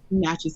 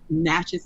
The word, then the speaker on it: Natchez: where is he from Natchez Mississippi say it one more time Natchez Mississippi spell that n-a-t-c-h-e-z CH he's easy ah okay I think